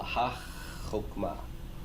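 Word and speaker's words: הַחָכְמָה: That is to say, we're going to treat and pronounce that chet as if it were doubled. It's virtually doubled or implied, but you can't write the dagesh forte in it. Okay? So it looks open, but it's really being treated like a closed syllable.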